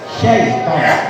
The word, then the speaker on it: syaiton: Kemudian dalam membaca syaiton, kebanyakan ada yang mendengar bacanya pakai huruf so, soy, yang mana ini salah. Tetapi yang dipakai huruf shin, syaiton, sya.